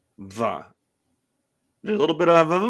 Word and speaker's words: mhath: So the second word, va. Guess how va is spelled? I don't know, with a G. Close. An M. It's MHATH. Va. Because clearly. Va. But it probably starts with the closed mouth. That's probably what the M is for.